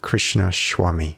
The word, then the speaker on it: Krishnaswamy: say that correctly yes how would you pronounce especially your surname Krishnaswamy Krishnaswamy yeah thank you for that I did practice